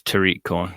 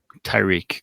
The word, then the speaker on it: Tariq: mack uh from uh it's it's uh it's tariq just just saying what did i say tyrique corn yeah oops you